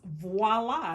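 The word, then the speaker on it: voilà: it out okay cut it out and then voila how okay so do you know what VOA means perfecta it's a French word and it means here it is if I remember correctly but it's pronounced voila and I'm glad you pronounced it he knows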